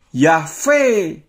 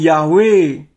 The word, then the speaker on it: Yahweh: Kalau YHVH bunyinya Yahbe atau Yahve, bukan Yahweh. Tapi ya ada kelompok-kelompok Kristen yang merasa betul, yang merasa paling betul membaca Yud-He-Vav-He itu dengan Yahweh.